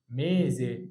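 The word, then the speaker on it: mese: ينفع انطقها بصوت الاس؟ لا، عشان جاي قبلها متحرك وبعدها متحرك يبقى بصوت الزين، يبقى اسمها ميزي، وميزي معناها شهر.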